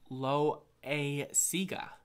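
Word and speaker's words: Loáisiga: know and on Wikipedia his last name is pronounced lo a sigue so apologies there Louis sigue alright two more boxes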